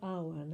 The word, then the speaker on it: Awen: So the poem is called Awen, that's spelled A-W-E-N.